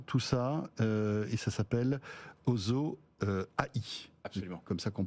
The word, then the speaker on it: OSO-AI: Voilà, passionnant tout ça, et ça s'appelle Ozo AI. Absolument. Comme ça qu'on prononce.